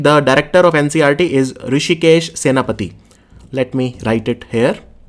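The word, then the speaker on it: Hrushikesh Senapati: In NCERT, the director of NCERT is Rishikesh Senapati. Let me write it here. Mr. Rishikesh Senapati. There is a H also which is silent. So it is Rishikesh Senapati.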